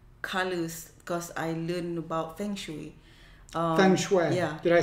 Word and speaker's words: feng shui: Okay, I actually incorporate colors because I learned about feng shui.